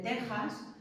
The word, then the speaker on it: Texas: Ya os he dicho también que la X de México y de Texas en realidad no es una X, sino que